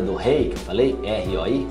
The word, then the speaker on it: roi: R-O-I, roi. Então, sempre que tiver O-I, é wa.